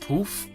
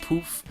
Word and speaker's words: Poöf: was sort of confused that this was actually pronounced poof because a little dibble dab over the second though but apparently it is pronounced poof i watched a trail arts a little poetic